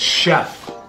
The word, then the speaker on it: chef: No it's chef. You don't see how it's because it's French.